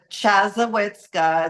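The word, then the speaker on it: Chassahowitzka: about and and exactly where it is right chaza witka it's one of those fun words that you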